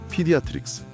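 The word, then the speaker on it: pediatrics: 청취자님도 그 생동감 넘치는 아이들의 모습을 그리며 3번 발음해 보시죠. 피디아트릭스, 피디아트릭스, 피디아트릭스, 피디아트릭스.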